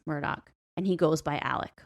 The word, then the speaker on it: Alex: And he pronounces it Alec, which is I find weird.